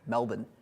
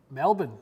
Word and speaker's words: Melbourne: I never guess then it's not even Melbourne it's Melbourne Melbourne yeah that's how you say it that's how the locals say it any Australia accent goodbye